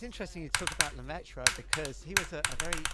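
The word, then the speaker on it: Lemaître: I never like to pronounce his name, but it's something like George Lam. It's Lmetra.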